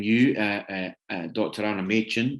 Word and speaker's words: Machin: uh dr anna machin i pronounced your name wrong don't worry you pronounced it the really nice scottish way well i did i did mackin yeah well yeah if i come up there i get it it's pronounced that way so that's fine well